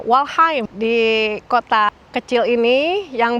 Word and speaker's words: Waldheim: Tulisannya sih, Wheim, ya. H E M. Dibacanya Walheim di kota kecil ini